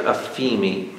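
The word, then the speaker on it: aphiemi: The Greek word is aphemi, A-P-H-I-E-M-I, aphemi, A-P-H-I-E-M-I. It's very close to pronunciation to another word called liberty, aphesi, A-P-H-E-S-I, aphesi.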